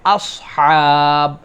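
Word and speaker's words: أصحاب: 4 নম্বরে আসহাব, আমরা অনেক সময় বলে ফেলি আসহাবিল ফিল, প্রথমটা সিন পড়েছি, পরেরটা নর্মাল হা হলেই হলো, এরকম করে ছেড়ে দিয়েছি, তাহলে কিন্তু আমাদের উচ্চারণ ঠিক হবে না। আসহা, বলেন আস, আস, আস, আসহাবিল, আস, আস, এই সদ, তারপরে হা, সদ, হা, আসহাব, তাহলে এটা হচ্ছে 4 নম্বরে।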